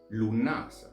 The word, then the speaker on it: Lughnasadh: In other instances, we find the name Lugnasa as a softer pronunciation of Lugnasad, as you see written in the title below.